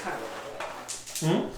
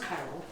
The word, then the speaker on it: Tyrell: It's pronounced Chiral. It's pronounced Chiral. Tyrell. Yeah, I emphasize Chiral. Like the chemistry.